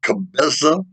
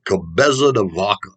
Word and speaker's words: Cabeza de Vaca: ground um another spaniard by the name of cabeza let me spell that one for you c-a-b-e-z-a cabeza de vaca d-a-c-a which in spanish means head of a